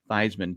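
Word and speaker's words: Theismann: who was in college he changed it to thyman to rhyme with Heisman why would he hang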